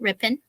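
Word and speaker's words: Ripon: twisted towns oh yes rip in wisconsin i said it right right rippin and um so we're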